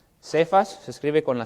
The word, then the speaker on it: Cefas: Que la Biblia también a veces lo llama Cefas. Cefas se escribe con la C.